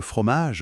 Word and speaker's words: fromage: Et moi, je retiens surtout le fromage, miam, avec le G très doux. Fromage.